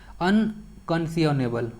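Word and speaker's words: unconscionable: इसका जो सही वर्ड है अनकंसियोनेबल, ओके, अनकंसियोनेबल जो वर्ड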